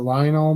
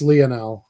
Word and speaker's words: Lionel: of course is that Lionel Messi is a pickup unless that how you say his name is that it's it's Leonel actually Leonel now this is very important